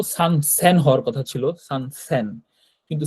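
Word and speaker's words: 千: 1000 কে জাপানি ভাষায় বলে সেন তাই না? এটাকে ইচিন বা বলে না যদি শুধুমাত্র সেন থাকে। হ্যা শুধুমাত্র সেন থাকলে সেন বলতে হবে। তো সেন কথাটা আমরা শুধুমাত্র সেন বলব। এইযে এটা দেখেন এক থাকলে শুধু সেন বলতে হয়। ইচিসেন কথাটা বলা হয় না বা ইসান কথাটা বলা হয় না এখানে এখানে আর কি তো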